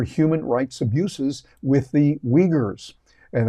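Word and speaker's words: Uyghurs: rights abuses with the Wagers and that's that's how it's pronounced by the way the we ugers I think is the way they pronounce it over there uh but weers you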